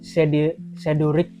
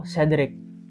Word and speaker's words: Cedric: Ini sedurik atau sedrik.